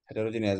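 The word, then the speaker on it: heterogeneous: হ্যাঁ উচ্চারণ দেখে অনেকে ভাববেন কি রে হেটারো, তাহলে HETARO, না ওখানে ধরা খাইবেন, উচ্চারণ হেটারোজেনিয়াস বাট বানান হেটেরো, এই জন্য উচ্চারণটা এইভাবে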